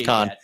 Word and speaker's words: Cannes: I remember like Johnny Drama said Canes and he was like con. They were like really? He's like no it's con.